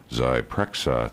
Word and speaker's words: Zyprexa: marketing of the drug help me pronounce it zpra Zyprexa Zyprexa thanks hi Jim good morning